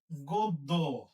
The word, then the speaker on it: গদ্য: হচ্ছে এর আগে দেখাইছি গোদ্য গোদ গৌদ্য দশ জফলা আছে তাহলে গ এর আগে যে অটা আছে অ এর উচ্চারণটা ও এর মত হবে অ এর উচ্চারণটা ও